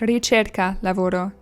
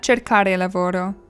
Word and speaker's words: ricerca lavoro: My partner just informed me I've been saying it wrong for 2 years now. It's ricerca lavoro, not cercare lavoro.